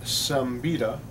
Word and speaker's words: Siembieda: pronounced all right so it's polish the American pronunciation is some betta Subbiah jump yatta if you're polish okay I